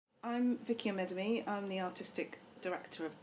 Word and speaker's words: Amedume: Vicki Amedume.